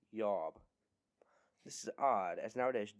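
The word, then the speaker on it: IOB: It is spelled I-O-B, and probably would have been pronounced something like Yob.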